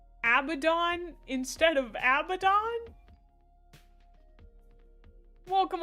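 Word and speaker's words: Abaddon: Oh, I've always heard the biblical figure said as Abbidon, you know, like the I mean, some people are saying Abdon. It's actually Abdon.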